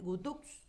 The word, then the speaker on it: Guthux: Entonces, allí está la palabra de Ariel Gutux, creo que lo pronuncio bien, ¿verdad? Gutux, sí.